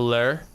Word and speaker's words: lure: It's called a lure.